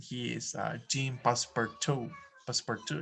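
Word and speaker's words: Passepartout: is uh team passport passport two is french i think this is the way it is pronounced jinpa passport two password 2.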